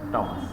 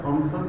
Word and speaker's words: Thomas: Common pattern TH থাকলে এর উচ্চারণটা হয় হলো টমাস। ইউকেতে একটা অর্গানাইজেশন আছে, এই টমসন ফাউন্ডেশন। হ্যাঁ, আমি একটা ট্রেনিং অ্যাটেন্ড করেছিলাম, আমাদের অনেক লোকাল কলিগরা থমসন ফাউন্ডেশন বলেছিল, তখন তারা বলেছে যে টমসন ফাউন্ডেশন। I know. এবং আপনারা যে থমাস হার্ডি পড়েছেন ওটা টমাস হার্ডি হবে। হ্যাঁ, টমাস হার্ডি হবে, থমাস হার্ডি না, টমাস।